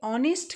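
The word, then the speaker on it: honest: देखिए ऑनेस्ट का अगर हम उच्चारण करते हैं तो यहाँ पर वॉवेल साउंड प्रोमिनेंट है, हालांकि शुरू ये एच से हो रहा है, तो यहाँ हम वॉवेल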